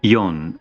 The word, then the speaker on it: Yeon: Yeon, Y-E-O-N.